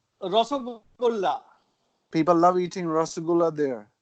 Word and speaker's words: রসগোল্লা: Rasgulla or how do you pronounce it? Rasgulla. রসগোল্লা.